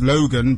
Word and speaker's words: Logxn: everything everywhere everywhere yes Logan is it's it's pronounced Logan but it's log10 yeah right this is correcting